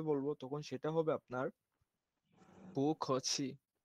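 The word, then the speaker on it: 不客气: আপনার এই এখানে এখানে এখানে একটা ব ব দেখতে পাচ্ছেন, এটা সরাসরি ব হবে না, প হবে না, এদের মাঝখানে একটা নতুন আসবে, মানে পু খছি ওইরকম।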